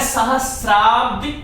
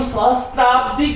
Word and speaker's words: सहस्राब्दी: इस शब्द का उच्चारण और लेखन हम सहस्त्राब्दी करते हैं, ये गलत है। क्यों गलत है? क्योंकि मूल शब्द इसमें स और फिर र, सहस्र और फिर अप और दी से अब्दी बना और दीर्घ संधि होकर